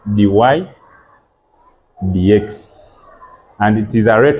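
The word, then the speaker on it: dy/dx: Some people may think that this is dy divided by dx, which is not correct. This one is read as dy dx.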